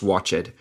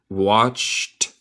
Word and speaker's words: watched: Nota mi pronunciación de watched, no es watched. El ed se pronuncia los dos como solo un t. Watched.